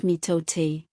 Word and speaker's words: mitote: Your whole mind is a fog which the Toltecs called a mitote, pronounced mitote.